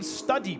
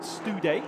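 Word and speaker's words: Studie: Team at Study, sorry for pronouncing that for many years completely wrong. Team Study Plus, not Studay. And I have to say,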